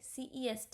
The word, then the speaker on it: c'est: CEST is called as c'est.